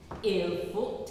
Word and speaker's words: il faut: How many times do I need to tell you, do not pronounce the T.